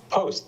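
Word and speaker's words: Pfost: It's post. The F is silent in the in my name, so it's post.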